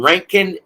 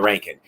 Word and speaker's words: Rincon: is located right in Rankin Georgia or Rincon Georgia I don't know why they call it ranking it's spelled r-i-n but it's pronounced r-a-n rent con Georgia all right and